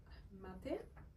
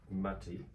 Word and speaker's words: mate: So it's pronounced mate, but Mate.